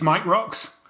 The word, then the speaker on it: Mike Rocks: Um, and also joining us um, his name rhymes with gearbox, Botox, and cowpox. It's Mike Rocks.